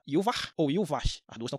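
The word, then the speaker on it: Yhwach: vai mais errar agora se você for querer seguir a pronúncia baseada na parte do hebraico aí esse h não é mais mudo ele passa a ser ra E aí o nome dele passa a ser iar ou então vocês decidem aí qual é pronúncia que vocês querem adotar iar ou ivar eu aqui vou chamar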